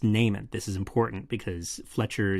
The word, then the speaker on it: Neiman: It's pronounced Naiman. This is important because Fletcher specifically later on in the script calls him Neiman instead of Naiman.